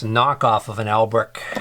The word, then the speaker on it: Albrecht: This is it's a knockoff of an Albrick. It's a Lambrick. So Albrecht is spelled A-L-B-R-E-C-H-T, and this is spelled L-A-M-B-R-I-C-H, Lambrick.